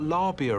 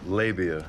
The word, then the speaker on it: Labia: It's not Labia or Labia. No, Labia.